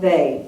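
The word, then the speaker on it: Weil: Nelson Mandela um Simone they and her last name is spelled we i l but it said they European way um so we're going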